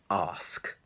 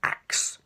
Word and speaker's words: ask: so here's the word ask quite a simple word you all know what it means ask ask but many people pronounce this word like axe for example he axed me or he act